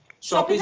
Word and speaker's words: Shopizen: हाँ एक और चीज बता दूं, हाँ कई लोग नाम के हाँ प्रोनाउंसिएशन हाँ में गड़बड़ करते हैं। शॉपिंग वर्ड से निकला है शॉपी, हम्म शॉपिंग करते हैं ना, क्योंकि यहाँ पे पाठक साहित्यिक रचनाओं की शॉपी।